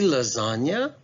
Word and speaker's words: lasagna: minute could it be lasagna i mean i'm not really sure why that g is silent right there but it kind of